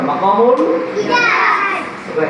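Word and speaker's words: مقام الحجاز: হিজাজ মাকামুল তুমি কি বললা জোরে বলতে হবে মাকামুল হিজাজ হিজাম বলো না হিজাজ কি হিজাজ হিজাজ আচ্ছা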